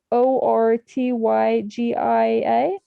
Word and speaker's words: Ortygia: It's spelled Ortygia. Like like the one from Pirates of the Caribbean, Tortuga.